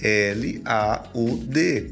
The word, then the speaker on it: laud: a nossa agência laud você fala como você escreve l a u d laud e ela vem do